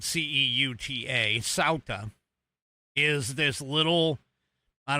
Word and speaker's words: Ceuta: That's how it's pronounced. Ceuta. Even though it's spelled c e u t a, Ceuta.